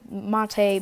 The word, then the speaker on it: MATE: So Matei means GNOME 2 or Matei, however you want to pronounce it, or Mate, whatever you want to pronounce it as.